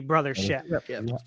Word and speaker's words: Brothership: game that has um a lot of people saying it wrong and I understand why because it does sound like it should be or could be Mario and Luigi Brotherhood but it's the Mario and Luigi brothership and I you guys all